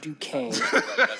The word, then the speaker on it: Duquesne: And just know the institution that we're talking about is not Duquesne.